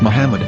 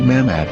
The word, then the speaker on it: Muhammad: Muslim prophet, or as Mamad with no A after the H. According to Ben Yehuda's Hebrew English Dictionary, it is correctly pronounced as Muhammad, not Mamad.